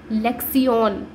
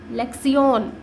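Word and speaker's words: lección: आपको ओ के ऊपर एक एक्सेंट दिख रहा होगा, उस एक्सेंट का सिर्फ इतना सा मीनिंग है कि ओ जब आप इस वर्ड को प्रोनाउंस करो तो ओ के ऊपर थोड़ा सा स्ट्रेस दीजिए, तो इस वर्ड को हम कैसे बोलेंगे, लेक्सियन। ठीक है, नेक्स्ट वर्ड है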